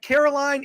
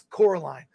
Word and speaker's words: Coraline: itself yes just remember it's not Caroline it's Coraline Coraline was re-released this is